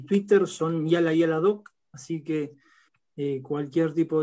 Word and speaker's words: Yallah Yallah: Se escribe con YALLAH, que un poco españolizado, castellanizado, sería Yala Yala, ¿no?